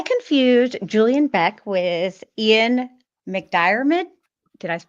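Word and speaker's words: McDiarmid: I confused Julian Beck with Ian McDyid. Did I pronounce that right? I hope. Dyid. McDid.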